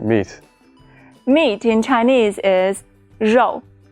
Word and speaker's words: 肉: Meat in Chinese is 肉.